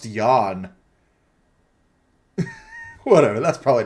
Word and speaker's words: Jan: He's German. I'm pretty sure it's pronounced Jan.